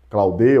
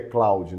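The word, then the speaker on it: Claude: Claudê ou Cloud, mas que o nome, a nomenclatura, certo, o sotaque, certo, né? A pronúncia certa seria Cloud, né?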